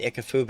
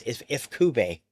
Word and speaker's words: Ifukube: The music by I always say his name wrong, Akira Ifukube. We always said Ikafube. It's Ifukube.